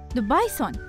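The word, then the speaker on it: the bison: اسمي في اللغة الإنجليزية هو دبايسون، وفي اللغة الفرنسية لوبيسون. يكتبان بصيغة واحدة لكن يختلفان في النطق.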